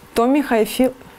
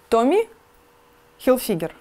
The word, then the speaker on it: Tommy Hilfiger: Tommy Hilfiger. Слушай. Как это произносится? Tommy Hilfiger.